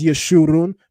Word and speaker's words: Yeshurun: the in the maseretic text they place the kabut's vowel marker underneath this letter so that we would know how to interpret this properly to not only pronounce it as yeshurun but that it would